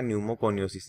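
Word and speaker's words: pneumoconiosis: तो ये आप ध्यान रखना, न्यूमोकोनियोसिस, इसमें पी यहाँ पे साइलेंट है वो रहता है।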